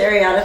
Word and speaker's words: Areata: So you're the secretary of the board of director for the National Alopecia Areata Foundation. What am I saying? Areata Foundation. Sorry. Everyone mispronounces it.